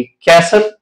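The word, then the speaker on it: castle: वो क्या है या जब टी एल ई ये कॉमिनेशन आ जाए तो इसमें फिर जो टी होता है वो साइलेंट होता है कि कैसल बसल वेसल य अगर आप कॉमिनेशन आप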